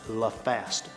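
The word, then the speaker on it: LFAST: That's pronounced la fast. It stands for L-F-A-S-T.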